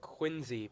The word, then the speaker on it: Quincy: It's like Quincy, but the C is pronounced as Z.